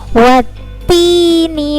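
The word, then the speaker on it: وَالتِّينِ: adalah tanda ini nah tanda tasydid ya tasydid itu cara membacanya adalah ditekan ya what Tini wazaitun nah seperti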